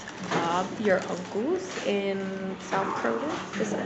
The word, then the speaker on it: Croydon: We are at Bob, your uncle's in South Croydon. Is that how you say it? Croydon. So you don't pronounce the O. Croy. It's C-R-O-Y. It's like, but you know, crow, like, the O pronunciation is different.